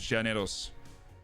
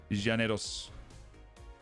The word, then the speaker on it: Llaneros: one go reddish we've gone over the pronunciation uh with some people from Colombia and they said it was Janos Janos that's a lead on